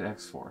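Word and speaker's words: .hack//XXXX: fourth one and two yes you say it x4 that's actually how you say it dot hack legend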